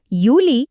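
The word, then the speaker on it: Juli: പ്രധാനപ്പെട്ട ഉച്ചാരണ കാര്യം ശ്രദ്ധിക്കണം ജർമനിയിൽ ജെ എന്ന അക്ഷരം കണ്ടാൽ നമ്മൾ മലയാളത്തിലെ യ എന്ന ശബ്ദമാണ് ഉപയോഗിക്കേണ്ടത് അതുകൊണ്ട് ജനുവരി എന്നത് യാനുവാർ എന്നും ജുലൈ എന്നത് യൂലി എന്നുമാണ് പറയേണ്ടത് ഇതൊന്ന് ശ്രദ്ധിച്ചാൽ മതി നിങ്ങളുടെ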